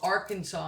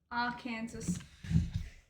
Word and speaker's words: Arkansas: Why is it called Arkansas and Kansas?